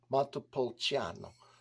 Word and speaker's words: Montepulciano: to always look at matapolciano so the CH is or the CI is pronounced CH and U accent or